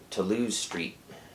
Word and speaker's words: Toulouse Street: And here we go, the first album included, Toulouse Street. I'm using the French pronunciation.